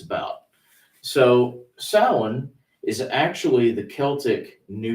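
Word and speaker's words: Samhain: So tonight's topic Sam Hayne, you know, not proper pronunciation. No. Uh sin is the is the corre the correct pronunciation.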